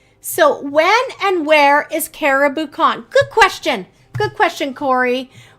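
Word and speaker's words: Cariboo Con: Caribou Con, for those of you listening, it's spelled C-A-R-I-B-O-O, like boo.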